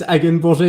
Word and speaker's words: Hagenborger: It's Hagenborger in French, but anyway, I mean, pronounce it as you like in English.